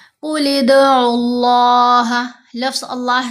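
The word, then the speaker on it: الله: आ गई होगी अच्छा जी उलद अल्लाह लफज़ अल्लाह की लाम को यहां हमने मोटा पढ़ना है।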